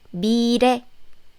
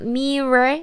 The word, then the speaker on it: 미래: It's not mirror or mille. It's not the L sound. Especially if the L sound is used in the romanization, a lot of students pronounce it like this. So please remember, if this real sound is in the middle of the syllable, especially after the vowel. B, E, E. It ends with vowel sound. And dear comes, then it's more like R sound.